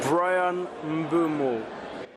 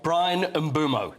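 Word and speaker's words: Bryan Mbeumo: Brian Mumo. Thanks, Brian. Brian Bumo. That's how you pronounce it.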